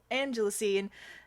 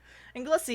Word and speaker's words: Anglesey: Porthlogchog in Angelusy and Anglesey. Anglesey? I've been saying it wrong. Anglesey, and arrived at around 3 p.m.